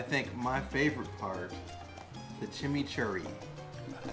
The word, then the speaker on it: chimichurri: And now I think my favorite part, the chimichurri.